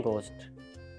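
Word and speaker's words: ghost: word pronounce करते हैं घोस्ट घोस्ट के अंदर जो है वो एच जो है ये बाय मिस्टेक आया पुराने जमाने में गोस्ट को जी ओ एस टी लिखा जाता था और इस तरह से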